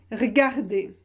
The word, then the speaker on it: regarder: Souvent, on le supprime à l'oral. Souvent, on ne le prononce pas à l'oral. Par exemple, regarder, vous pouvez prononcer regarder.